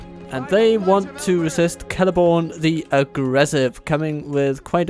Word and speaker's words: Celeborn: You get to guess as to who wins, but I think he starts with C and rhymes with Telethorn. Yes, it is indeed Celeborn.